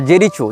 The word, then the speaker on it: Jericho: लेकिन इजराइल हो या फ़लस्तीन हो, इसने जेरिको या जेरिचो, जो भी इसका उच्चारण भाषा में किया जाता है, JERICHO, जेरिचो या जेरिको, जहाँ तक जेरिको होना चाहिए उच्चारण, ये फ़लस्तीन का प्रांत